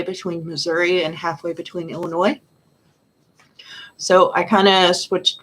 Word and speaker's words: Illinois: it's too different but i've learned to pronounce it illinois not illinois like people in missouri do because for some reason they had an s even though it's silent anyway oh do you